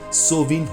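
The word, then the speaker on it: Samhain: है नंबर दो समय सहीन एक गैलिक शब्द जिसका उच्चारण सोवन होता है एक प्राचीन सेल्टिक आध्यात्मिक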